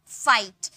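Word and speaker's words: fight: का प्रोनाउंस करेंगे फाइट अब देखिए एफ का फ आई को हम लोगों ने आई में बदल दिया और जी एच का कोई साउंड नहीं आया यानी कि जी है साइलेंट है टी का ट का साउंड आया यानी कि फाइट वैसे ही लाइट राइट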